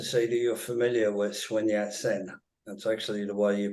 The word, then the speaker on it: Sun Yat-sen: I'm glad to see that you're familiar with Sun Yat-sen. That's actually the way you pronounce it, and you know, people don't know